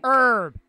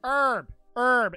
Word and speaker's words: herb: Herb. It's herb. It's not herb. Chat, do y'all say herb or herb? Everybody says herb. The H is silent.